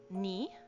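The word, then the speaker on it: 二: Uh to is pronounced ni.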